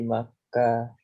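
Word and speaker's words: مكة: fi Makkah. Iya, jangan ditanwin fi Makkah.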